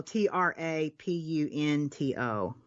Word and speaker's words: trapunto: this but it's true trapunto tre no tra p un t/o okay trapunto i think that's how it's pronounced looks like it I